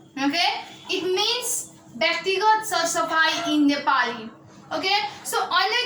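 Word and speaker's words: व्यक्तिगत सरसफाइ: It is pronounced as a Byaktigat Sar-Safai. Okay? It means Byaktigat Sar-Safai in Nepali.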